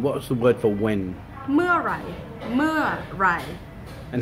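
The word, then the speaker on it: เมื่อไหร่: Meurai. Meurai. And how do you say that word mur? What's the easiest way to pronounce that?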